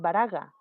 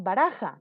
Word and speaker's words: baraja: No dices baraga, dices baraja. ¿Te das cuenta? El sonido es más fuerte.